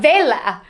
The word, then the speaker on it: Vela: Raphael is founder, owner, and CEO of Vela.